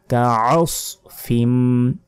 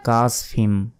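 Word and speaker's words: كَعَصْفٍ: ফাজআলাহুম কাআসফিম, আমরা অনেকে বলি কাসফিম, এটা ভুল, কাআস নয়, কাআসফিম, ফিম এখানে গুণনা হবে।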